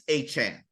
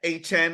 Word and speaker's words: Achane: And he's like, well, I'm so used to people not saying it right that I just let it slide, but it's Achane.